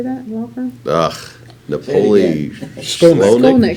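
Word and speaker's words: Shkolnik: Napoli Skolnick. Skolnick? Skolnick. H is silent.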